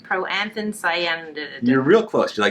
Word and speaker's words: proanthocyanidin: It contains some amazing potent anthocyanidin and proanthocyanidin antioxidants.